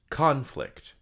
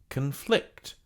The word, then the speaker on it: conflict: This has two pronunciations, one for the noun, one for the verb. For the noun, it's conflict. Conflict. For the verb, it's conflict.